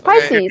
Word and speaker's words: Pisces: think Pisces twice yes it's Pisces like the constellation oh you're gonna say